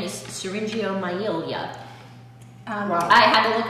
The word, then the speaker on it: syringomyelia: Yes, the official name is syringomyelia. Wow. I had to look up the pronunciation of that one, and I still might not have gotten it quite right, but that's what it is.